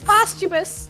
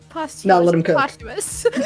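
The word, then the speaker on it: posthumous: dead as a ghost it's postumus not posum pous oh really I'm sorry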